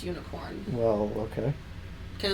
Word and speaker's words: Unicorn: then they have unicorn which i think is unicron unicron it's unicorn this this one spells it unicron it it's pronounced unicorn well okay because it's from the gundam unicorn